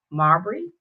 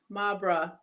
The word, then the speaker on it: Mabra: We are kicking and hanging out with Marbury. Did I say it right? Mabra. Mabra. Why do I want it to be Yeah. Bree instead of Bra?